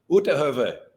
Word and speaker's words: Uitterhoeve: Uitterhoeve.